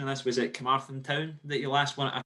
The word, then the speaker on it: Carmarthen: Christian, apologies if I butchered the pronunciation of this. Was it Carmarthen Town that you last won a trophy with? Yeah, Carmarthen, yeah.